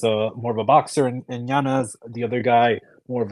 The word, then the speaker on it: Yanez: Yanez. No, no, no. He's issued a correction. He said that he pronounces it Yanez.